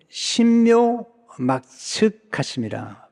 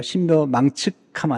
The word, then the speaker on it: 신묘막측: 개역 한글에는 나를 지으심이 신묘막측하심이라. 발음 잘해야 돼요. 신묘망측하면 안 돼요. 신묘막측하심이라.